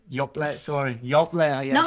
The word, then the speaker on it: Dốc Let: I'm trying to remember how it's spelled. Yeah, DOC. What? LET. So I understand it, Dốc Let in English.